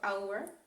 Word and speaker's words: hour: minut, an hour, ale protože tam se to h nevyslovuje, vyslovuje se jako hour, tak tam musím použít taky n, abych si oddělila n od hour.